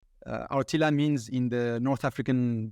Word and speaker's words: RTILA: Or did I pronounce That's right? Yeah. RTILA.